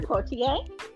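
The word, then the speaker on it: Poitier: Portier.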